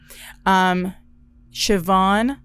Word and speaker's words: Siobhan: Siobhan, actually, and let me pull it up on YouTube and not be disrespectful. I'll put it on the screen too, but it's at Siobhan Breyer Aguilar.